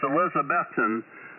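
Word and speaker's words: Elizabethton: in Tennessee see it's a similar uh uh spelling but it's Elizabethan and I learned from the locals uh the right way to say that all right uh N3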